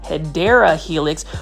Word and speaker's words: Hedera helix: that are new to the channel I actually mispronounced hedera Helix which is the correct way to say um